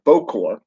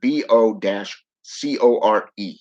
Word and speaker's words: bokor: I should say the Bokor is pronounced Bo-Kor, as in Bo-Core.